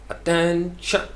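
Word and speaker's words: attention: ये होगा या तो आप इसको कहेंगे अटेंशन, या जो इसका एग्जैक्ट प्रोनाउंसिएशन वो करते हैं अटेंशन, अटेंशन, यानी टेन जो है उसको लंबा करना है, अटेंशन।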